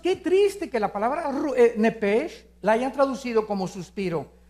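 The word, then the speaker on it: נפש: La palabra alma es nepesh. En el hebreo, apúntalo. Nep se pronuncia nepj porque la ch en hebreo es nepeg y la palabra espíritu es roaj.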